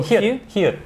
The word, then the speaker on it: 히읗: Just, 보통 히읗은 잘 발음 안 하는데 시옷 받침으로 발음할 때도 있어요. 이럴 때 보통 히읗.